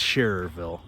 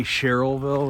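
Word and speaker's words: Schererville: so very commendable to sherryville sharerville sherryville it's sharerville for non-region viewers but uh i tend to say cherylville which is completely incorrect because i'm from merrellville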